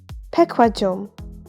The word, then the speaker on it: 백화점: ku plus hu is going to be pronounced as ku, 백화점, department store.